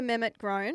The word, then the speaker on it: Mehmet-Grohn: Our special guest, Amelia Mett Gron, and I checked the pronunciation to get that right.